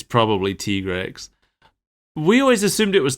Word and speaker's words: Tigrex: Yeah, we have learned recently that it's officially pronounced Tigrex. Is it officially pronounced Tigrex? Because I feel like the handler has mispronounced a few things in the game. See, when the handler said Tigrex, I was completely on board that Monster Hunter World just pronounced it wrong. But then this preview also pronounced it Tigrex in both languages. Oh. So, yeah, the Japanese audio said Tigrex, and so did the dub.